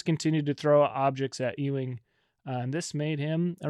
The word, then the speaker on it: Ewing: During a Syracuse Georgetown game the early 80s, Hoya star Patrick E-wing, I never know how to say his last name. Is it E-wing? You got it.